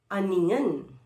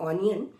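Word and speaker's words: onion: फिर है अनियन, ओ है, अ की साउंड दे रहा है, ओ अ की भी देता है, ओ की भी देता है, बट इसकी प्रोनाउंसिएशन अनियन है, नॉट ऑनियन।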